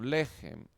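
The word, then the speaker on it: לֶחֶם: Por lo tanto, sabemos que es una sílaba breve y cerrada. La transliteramos como gem. Juntas, la palabra se translitera como lejem o lejem, lo que es pan.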